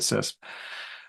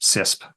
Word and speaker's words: CISSP: But I usually just pronounce the whole thing as a single syllable just CISP.